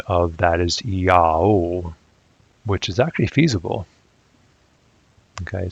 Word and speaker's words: Jehovah: The standard anglicized pronunciation of that is Jehovah, and sometimes it's pronounced Yahovah or Yahovo.